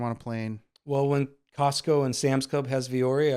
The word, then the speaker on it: Costco: He says it's Costco. Oh, because no T. You don't pronounce the T. There is a T, but you don't.